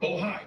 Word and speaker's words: Bohai: I want to make sure I pronounce it right. Bohai, B-O-H-A-I.